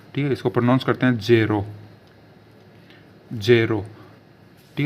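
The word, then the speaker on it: zero: सीखते हैं ठीक है दोस्तो शुरुआत करते हैं जीरो से ठीक है दोस्तों तो जीरो को बोलते हैं जेई आरओ जेड ई आर ओ ठीक इसको प्र करते जेरो जेरो ठीक है दोस्तों उसके बाद एक एक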